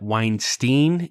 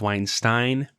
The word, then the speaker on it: Weinstein: Speaking of Psych, the TV show, one of our listeners has graciously pointed out that we have been pronouncing Brett Weinstein instead of Weinstein.